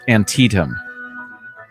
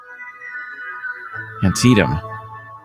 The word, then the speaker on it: Antietam: Dennis El Ghazi says Antietam I had to pronounce every vowel was my problem Antietam alright so where was